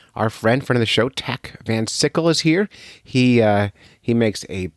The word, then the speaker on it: Tach Van Sickle: As I said earlier, I got Tack Van Sickle. Rhymes with popsicle if you're trying to get it right when you're saying his name.